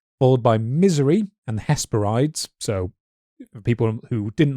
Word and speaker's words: Hesperides: the trees of the Hesperides. I think it'd be Hesperides. Hesperides, yeah, sorry. You always pronounce the E's in the end of Greek words. Hesperides, sorry.